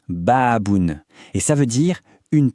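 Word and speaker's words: بابٌ: Ça se prononce baaboun.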